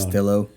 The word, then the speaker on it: Castillo: Yeah, I guess people don't know that the two L's is silent. Sound. Castillo.